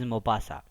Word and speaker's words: Maupassant: So actually the spelling is Maupassant, but it's a pronunciation, its utterance is Maupassant.